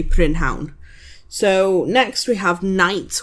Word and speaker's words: prynhawn: So we kind of do the same with prynhawn. We would say pnown. So it's like pnown. Sharp, but it's not ridiculously long kind of thing. So we would say pnown, but it's spelt, and if you're going to speak proper Welsh, then you would say prynhawn.